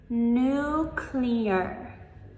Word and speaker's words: nuclear: This one is the opposite of other ones that have a silent letter that we don't say. This one we add the extra syllable to it. So, instead of just saying nuclear, we say nuclear. Nuclear. Number 13.